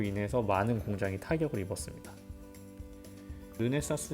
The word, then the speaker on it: 르네사스: 룸에 사스 란 회사인데요 발음이 좀 힘들어요 그런데 쌍 쓰 가 아니라 르네 사스 입니다 이루는 사스 는 촬영용